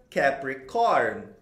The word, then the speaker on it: Capricorn: Então você pronuncia Capricorn, Capricorn, Capricorn. Do jeito que você está vendo escrito aí em inglês e também de acordo com o alfabeto fonético internacional.